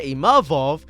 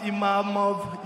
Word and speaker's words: Imavov: My name is Imavov. It's not Imamov, Imavu, je sais pas quoi. Imavov.